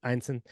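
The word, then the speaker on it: Ineson: absolutely um Ralph uh is it enison is that how you pronounce his last actually einon usually say Inon and I say einon but I yeah I confirmed that it's einon okay Ral einon he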